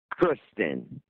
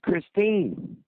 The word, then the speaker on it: Christine: about, having sex with Kristen. You didn't even say her name right. You kept saying Kristen, and her name's Christine.